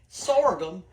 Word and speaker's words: sorghum: says sgum sort them it's at well y'all pronounce it sorghum s o r g h u m sorum s I'm stirring grits over here too all